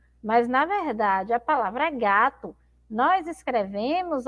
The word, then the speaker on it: gato: A gente não pronuncia aí gato, não é verdade? A gente pronuncia gato, então parece que tem um U. Mas, na verdade, a palavra gato, nós escrevemos, ó, com a letra O.